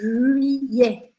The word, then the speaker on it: juillet: o U do francês, aquele U com biquinho, né? Juillet. E aí, aqui esse final, você pode imaginar quase como se fosse um yeah.